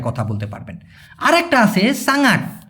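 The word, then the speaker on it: sangat: আরেকটা আছে সাঙাট। এখানে অনেকে সাংট বলে। তবে সঠিক উচ্চারণটা সাঙাট। স দিয়ে সাঙাট।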